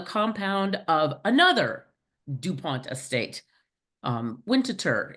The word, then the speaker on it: Winterthur: Winterthur. It's actually Swiss, French, and it's pronounced Winterthur.